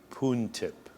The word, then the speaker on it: Poon Tip: City today my very special guest is Bruce puntip correct correct yes I pronounced it correctly you did indeed so what's